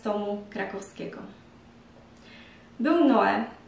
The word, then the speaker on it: Noe: Był Noe, niektórzy wymawiają to nazwisko Noje lub Moje, co w harce na potopie pływał i wszystkie zwierzęta miał ze sobą parami.